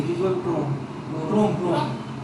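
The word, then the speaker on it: Chrome: Google এটা কি Google ক্রোম ক্রোম ক্রোম একজনরে জিজ্ঞেস করছি কইতেছে এটা চরম সি এইচ আর ও এমই তো সো এই উচ্চারণ করছে চরম হ্যাঁ আচ্ছা এরপরে হচ্ছে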